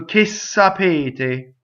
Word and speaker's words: sapete: So if you notice, I've written out two S's in the next word. So ssapete, that's what happens.